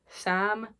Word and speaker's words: Sa5m: One of these women is called Sam, but she writes her name SA5M, so it's Sam but the 5 is silent or whatever, and people